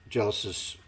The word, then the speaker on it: Geillis: She can't save her, But what she's doing is she's talking to Gillis about what I say Gillis because it's spelled Geillis. Could be Gillis.